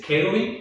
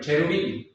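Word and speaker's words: cherubim: Es kerubik. Es cherubi, se escribe como diríamos en español, cherubi, chorus, pero no se dice chorus, se dice kerubi, gorus, ¿no?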